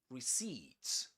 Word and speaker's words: receipt: The accented syllable is the last one.